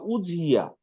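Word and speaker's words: أضحية: এবং দেখেন, উদহিয়া বা উজহিয়া, মানে দতকে জ উচ্চারণ করা, উজহিয়া, আজহা, ঈদুল আজহা, এই যে হ্যাঁ, উজহিয়া, এটা থেকেই আজহা, ঈদুল আজহা।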